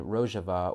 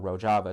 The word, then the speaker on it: Rojava: establish an autonomous zone in Rojava or Rojava, depending on pronunciation, in, of course, the